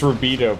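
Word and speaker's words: Rubedo: It's Rubido, but I call it rub-a-dubs because...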